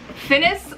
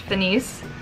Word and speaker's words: FINIS: Mermaid here, finally, with my review of the FINIS Luna, the new Monofin, Mermaid Monofin from FINIS. I say FINIS, I think it's actually pronounced FINIS.